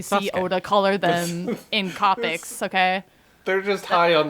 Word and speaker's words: Copic: whatever until we see Oda color them in copics okay they're just high on the weekend with their house shoes on I I I hate to break it to you but it's pronounced Copic who the markers oh the markers yeah probably